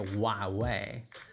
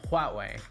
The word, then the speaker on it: Huawei: The most common mistake I hear is people calling it Huawei, but it's not Spanish. I think you're missing something there. Letter H. So that's right, the letter H. Together it's pronounced Huawei, as in Huawei.